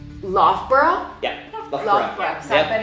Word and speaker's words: Loughborough: okay, so we would say, I would say log. Well, I know how to say it the right way. Log burrug, log burrug, Yeah. right? And And the it's- correct one is? Loughborough.